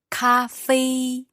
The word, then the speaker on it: 咖啡: 咖啡。 Cafe. 对。 So that's, let me think about the tones there. Those are both high tones. So that's first tone?